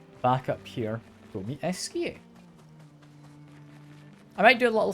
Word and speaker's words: Esquie: I believe it is Esquie. That's how you pronounce his name.